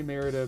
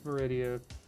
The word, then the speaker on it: Meridia: I just say Merida because that's what my brain says. No, I know it's Meridia. She never says her own freaking name. I just literally brain fart out and forget a syllable.